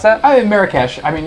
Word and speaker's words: Marrakech: Is that how you pronounce that? Marrakech.